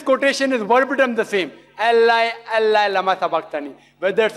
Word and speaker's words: Allah: a new pronounce it we have to tell them pronounce it as Allah